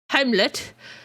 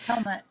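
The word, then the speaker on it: Helmut: 13th Baron of Zemo, Heimlich, which I'm probably saying wrong, so bear with me. Helmet. Yeah, thank you. Yeah, it's pronounced helmet.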